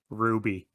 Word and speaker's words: RWBY: physical release through limited run games but it's pronounced ruby well i was gonna say that but i